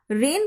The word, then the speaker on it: reign: इसे भी हम रेन पढ़ते हैं, लेकिन इसका मीनिंग बारिश नहीं है. इसका उच्चारण, इसका प्रोनाउंसिएशन रेन की तरह ही होता है, लेकिन इसका मीनिंग है रूल्स, नियम, शासन.